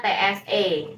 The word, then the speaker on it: ci: ini se se nah kalau Ci Itu se se tsi bacanya Tse ya jadi se gitu kayak ada t-nya di depan gitu ya nah oke nah Thank